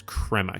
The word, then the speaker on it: Crema: Could you eat at Creme Cafe and give me Yeah, I was going to go to that coffee shop anyway. It's Crema Cafe, though. Got to pronounce that correctly.